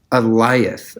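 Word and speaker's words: Alioth: Is it Eliath? Eliath. Okay, like Goliath, but it's just Eliath.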